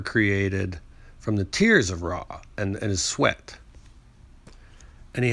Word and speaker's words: Ra: head which is raw raw can also be pronounced as ray r-e and when raw traveled